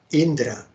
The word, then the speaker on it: Indra: from the mouth of Indra the Thunderbolt carrier here a commissary Indra or in Bengali pronunciation Indra and the king of Heaven